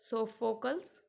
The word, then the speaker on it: Sophocles: These names are a bit tricky one, so listen the pronunciation carefully. Aeschylus, Aeneas, Sophocles, Euripides.